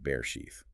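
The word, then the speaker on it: Bereshit: We're embarking on a deep dive into day two, the day of the airtight seal from the book of Bray sheath. And that's pronounced bear sheath.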